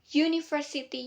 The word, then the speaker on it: university: Karena university, U-nya itu kan berbunyi huruf Y. Y itu adalah konsonan. Jadi menggunakan a university bukan an university.